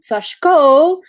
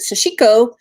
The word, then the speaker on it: sashiko: history of sashko first off i am not pronouncing that weirdly although it looks like sashiko or um sashko in japanese the letter she which is just